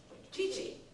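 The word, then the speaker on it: 父: a Tosan, but Yeah, then it's a Tosan, but then it's read chichi when it's Chichi. by itself. And does anyone anyone know the difference in usage between Chichi and Otosan?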